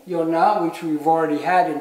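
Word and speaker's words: יונה: is structured and this is uh Jonah's name Yona which we've already had in previous verses so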